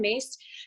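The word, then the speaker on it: Myss: um i always reference a woman named caroline mace her last name is spelled m-y-s-s and caroline mace um has done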